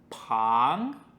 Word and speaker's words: 旁: 好的，我们第三个有方的字是旁。